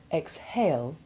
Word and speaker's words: exhale: The H is sounded in exhale and exhume, but is silent in exhaustion, exhibition, exhilarated, and exhort.